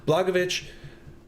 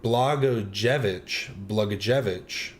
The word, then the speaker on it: Blagojevich: Blagojevich, sorry, I'm saying it wrong. Blagojevich.